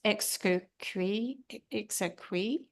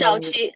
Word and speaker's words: Xiaoqi: Exoqui. I am so sorry. I'm pronouncing it. Her. I just unmute. You can Xiaoqi. Oh yeah, Xiaoqi.